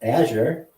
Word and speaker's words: Azure: know anything about that I know how to say it Azure and I know a